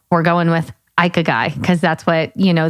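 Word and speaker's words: ikigai: this Jess Japanese philosophy called we're going with ike a guy cuz that's what you know the google said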